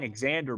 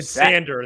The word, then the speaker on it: Xander: if the Cubs sign exander Bogarts I'm not gonna be a sander the x is silent go ahead if I